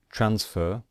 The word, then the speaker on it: transfer: So, for example, transfer. Transfer, we stress the first syllable.